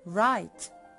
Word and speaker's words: write: ناخد بالنا يا ولاد ان حرف اللتر W اللي في الاول خالص silent ما بنطقهوش, بنطق ال R اللي بعديها على طول, فعشان كده بقول write.